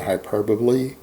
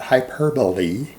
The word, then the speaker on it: hyperbole: require you to speaking hyperboy to get a message through you guys speaking Hy perbly sorry I'm mispronouncing ing that hyperbole a lot of people